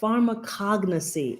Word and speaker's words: pharmacognosy: apologize for this um so if we pharmacognosy let's do that again pharmacognosy pharmacognosy so pharmacognosy is the correct pronunciation pharmacognosy so a pharmacognosist is a person